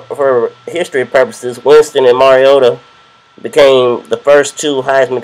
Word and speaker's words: Mariota: the second pick and I emphasize his last name because our in Infamous commissioner of the NFL Roger Goodell uh butchered Mar he called him Marcus mariata on National Television last night but uh